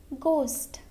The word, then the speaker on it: ghost: Okay, now letter H is silent if it begins with GH. For example, ghost, ghost, ghetto, ghetto, gherkin, gherkin.